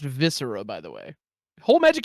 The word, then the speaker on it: Viscera: It is pronounced viscera, by the way.